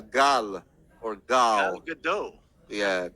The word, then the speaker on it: Gal: welcome, Gail Gadot. No wonder he wasn't the announcer for long. No, Okay, welcome, Nicolas Cage. Gail Gadot. She's not in her 20s. Also mispronounced her. Yeah, it's Gal or Gal.